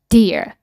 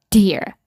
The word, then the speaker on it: dear: like that ဒါဆိုလည်း dearရာလို့မထွက်တော့ဘူး dear dear air dear you can pronounce like that ဒါဆိုလည်းဟိုဖီးယားဆိုတချို့ဆိုလေ pear pressure ဆိုတကယ်က